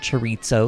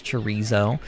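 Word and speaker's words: chorizo: say it last night it's not Chito it's chizo like I mean you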